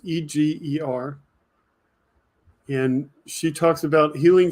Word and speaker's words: Eger: Edith Eger, I believe is the way it's pronounced, Eger.